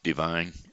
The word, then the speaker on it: Devine: Webb, Martin Kelly, Jamie O'Driscoll, Tina Ashbrook, Tina Cleeschulte Ashbrook, Sherry Williams Divine, or actually that's not Divine, it is Divine, but it's spelled D-E, not D-I.